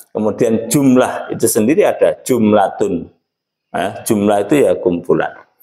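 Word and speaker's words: جملة: Kemudian kalimat dalam bahasa Arabnya adalah jumlatun. Jumlatun itu kalau dibaca waqaf membacanya jumlah.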